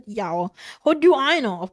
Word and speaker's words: Yao: The soon character I saw in the hail mar grass is pronounced yao.